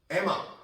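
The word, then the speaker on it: Emma: 이거 엠마라고 많이 하는데 M이 두 번이 나오거나 우리가 N이 두 번 나와도 발음은 한 번만 해 주는 겁니다. 영어 발음. 그래서 우리가 여름 요거 summer라고 있지 않아요. summer 그죠? 사람 이름할 때 우리가 짐미 아니죠. 지미 이렇게 읽는 겁니다. 그리고 나이 밝은 거 선니가 아니죠. 선니 N이나 M은 두 번 나와도 한 번만 발음해요.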